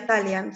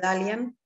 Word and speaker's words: Dalian: Se pronuncia Dalian, sin perjuicio que se lee Dalian.